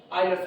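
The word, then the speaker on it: Euler: यूलर्स यूलर्स तो हम लोग स्पेलिंग याद करने के चक्कर में बोल देते हैं यूलर्स, अदरवाइज आयलर्स पढ़ा जाता है।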